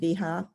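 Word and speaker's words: Vahia: The first author is Ipsit Viha. It's spelled V-A-H-I-A at Harvard and McLean,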